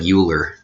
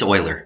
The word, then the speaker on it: Euler: it's nice tell this story every time you pronounce the name Euler even though it looks like Euler and I was corrected in a math class